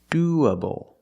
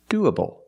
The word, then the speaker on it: doable: opposite pronunciation doable doable the stress is on the first syllable do use the long ooh sound like Moon and soon do du the a after the O is pronounced with a short sound uh like cup and up do do when you link these two vowels you have like a w sound in the middle W linking the vowels